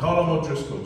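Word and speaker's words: Colm O'Driscoll: have to pronounce it he knows how to pronounce his own name it's called him kalamot Drisco just so you know than there are people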